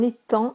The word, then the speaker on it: étang: Muette, un étang avec un G qui ne se prononce pas, comme dans sang, S-A-N-G.